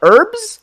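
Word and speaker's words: Urbz: then there was also the herbs i think is how you say this like u r b z which is one of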